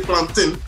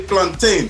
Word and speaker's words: plantain: We don't say plantain, we say plantain.